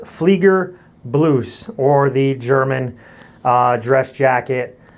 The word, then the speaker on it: Fliegerbluse: So next, moving on, we move to the German, what is called the Fliegerbluse, pronounced Fliegerbluse, or the German dress jacket, or in the American layman's terms would probably be considered like the U.S.